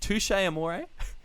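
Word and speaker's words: Touché Amoré: don't know how to pronounce it is it touche amore yeah does that pronounce it for some reason yes but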